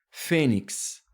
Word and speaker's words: fênix: Agora eu vou descobrir a sílaba tônica. Fênix. Tá aqui, ó, gente. Ela é uma paroxítona.